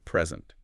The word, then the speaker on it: present: Okay, present. If you stress the first syllable, it's a noun, meaning a gift, but stress the second, and it's a verb, to give something.